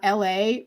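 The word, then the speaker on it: Elhae: r b person um la which is spelled e-l-h-a-e um also out of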